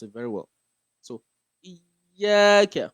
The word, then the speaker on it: iyyaka: So you oftentimes a lot of people do not pronounce the shadow of the iyyaka very well. So and you have to follow the rule of tashdid that we talked about last week.